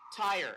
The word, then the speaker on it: Tyre: From Irving, Texas, Tori Tyre. Is that how you pronounce your last name? How do you pronounce? Tyre. Okay, like Tyre.